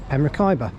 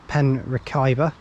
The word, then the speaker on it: Merthyr: There's the station just as you can see it there, and we're going to head off and catch a bus to Merthyr.